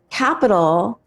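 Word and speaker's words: Qapital: work but the name is capital but it's spelled with a Q wow I know and it's like wait where's the Q so it's q u capital Q a p i t a l how do you say that capital it's Capital like that's a horrible name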